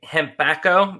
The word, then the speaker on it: Hempacco: bit of english that's funny so your company hembacho that's how you pronounce it right yes okay and becca why